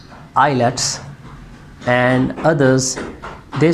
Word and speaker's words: IELTS: Some people they pronounce it like IELTS and others they say it is IELTS. Actually it is IELTS.